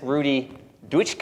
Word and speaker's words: Rudi Dutschke: And then this is Rudi Dutschke, I think is how you say his name, and this is Herbert Marcuse, who's talking about Rudi Dutschke's idea, all right?